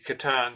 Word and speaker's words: Catan: Do you have the T-shirt that says it's pronounced Catan, C-A-T-A-N.